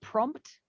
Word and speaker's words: prompt: bryce oh surprise surprise we've also got prompt prompt yes the second p is there prompt yeah prompt uh again somebody who's a little bit lazy or speaking fast might just say prompt without the second p but it is their prompt if i'm saying it i'm going to be saying prompt the p is going to be there the second p if